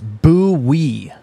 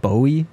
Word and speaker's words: Bowie: Matt says it's Bowie, Maryland. Also, I learned what did it's you say? Bowie. Okay. It's spelled B-O-W-I-E.